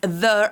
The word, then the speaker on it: there: use of there is, there are. Try to use the correct pronunciation of there. It doesn't have to sound like D, like the letter D. It's TH, so it needs to vibrate.